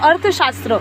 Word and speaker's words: अर्थशास्त्र: mince science ठीक है शास्त्र नहीं शास्त्र तो अर्थशास्त्र इसको प्रोनाउंस होगा अर्थशास्त्र अर्थ का मतलब होता